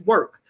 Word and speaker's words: WORxK: People get confused because they see the WORxK and don't know how to pronounce it, but it's work.